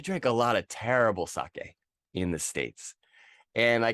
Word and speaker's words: sake: of people pronounce it saki but just given what I said about the pronunciation we already know that that's wrong right s-a-k-e pronounce it like Spanish right so I'm going